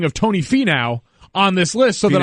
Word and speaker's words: Finau: Yeah, it's Finau, so there's a lot of what's going on there? As far as I'm concerned, it's Fee now. That's exactly right.